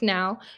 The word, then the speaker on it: know: That K at the beginning of the word is silent. That K is silent. So we're going to pretend like it's not there.